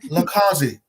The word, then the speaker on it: LiCausi: bottom, you'll see Lindsay LiCausi. That I said, Lindsay, we're very good friends and sisters. Always jack it up. I know I said it wrong. No, it's okay. LiCausi. No, You're close. LiCausi.